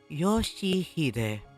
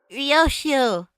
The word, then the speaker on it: Yoshihide: No, that's not how you read those letters. 요시대라고 읽는 거다. Yoshihide. That's how you say it. Yo, it's she/he/they. 요슈! Ryoshu.